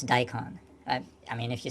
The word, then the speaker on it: daikon: I mean, if you say it the English way, it's daikon. If you say it the Japanese way, maybe it would be, what would it be? Daikon. Daikon. Daikon. The N is kind of light.